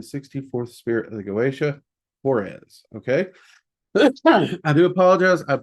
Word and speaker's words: Haures: It is HAURES, though some people pronounce it HAURES. So it's either with that EZ or the ESS.